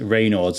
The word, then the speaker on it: Raynaud's: wanted to talk to you about today is Reynolds am I pronouncing that correctly yes yeah cool so well